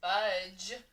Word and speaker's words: budge: your turn budge fudge when i say the word budge at the end i hear ja ja it is going to be d g e which makes that j sound it's a soft j soft g budge next word raced your